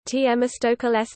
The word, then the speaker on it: Θεμιστοκλῆς: Themistocles, Greek, Themistocles, Greek pronunciation, Themistocles, Themistocles, glory of the law, c.